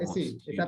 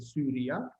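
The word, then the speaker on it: Syria: ¿Está bien pronunciarla como I normal, como Siria, o necesariamente Sí, está Siria? perfecto porque no es una vocal latina, es una vocal griega. En griego se pronuncia U.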